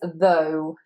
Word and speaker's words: though: And this is long O again, that's so that diphthong, phone, comb, though. Of course here you've got your TH, but it's a slightly different TH here. It is the TH, so more vibration, the same as in mother and brother, though, though.